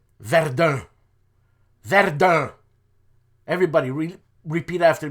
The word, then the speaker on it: Verdun: region of the So Verdun is actually not pronounced Verdun. It's Ver.